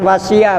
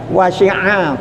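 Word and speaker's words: وسع: Hati-hati Bu, ini bukan wasi'a Bu, wasi'a pakai ain, bukan wasi'a kursiyu.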